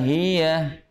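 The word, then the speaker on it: هيه: Wa ma adraka ma hiya. Wa ma adraka ma hiya. Ya, hiya. Hiya. Hati-hati nih. Hiya. Kadang suka dibacanya agak sedikit kayak seolah-olah seperti huruf yang bertasdid.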